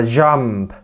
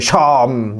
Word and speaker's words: jump: Nhảy phải là jump, không phải chom, nhớ chưa?